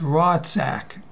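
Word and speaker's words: רָצַח: It's I believe it's 7523 in the Strong's, but it's interesting because it's Ratzak, but they say it's pronounced Rotzak. But it's in English, Ratzak.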